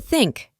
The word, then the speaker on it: think: La TH en inglés se pronuncia de la siguiente manera. Coloca la punta de la lengua entre los dientes superiores e inferiores y sopla aire suavemente, sin usar las cuerdas vocales.